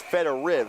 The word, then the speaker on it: Fedoriv: We were notified at the break that we had been told falsely about the pronunciation of number 55 in black, Dorian's last name. It's Fedoriv, so apologies to the Fedoriv family.